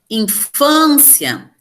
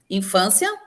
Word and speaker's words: infância: Infância. Infância, penúltima sílaba tônica. Então, ela vai ser uma paroxítona, né?